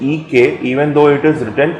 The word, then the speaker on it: एक: For example the word एक, एक की मात्रा वाला ए, और क is pronounced EK even though it is written EKA.